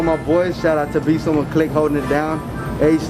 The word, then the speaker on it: Besomeone: And then I run my main account, which is Instagram, and that's just at Besomeone, BESOMEONE. Simple, just like it sounds, just Besomeone.